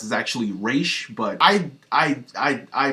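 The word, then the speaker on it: Ra's: Raz Al Gul and yes I know the pronunciation for Raz is actually re but I I I I pronounce it as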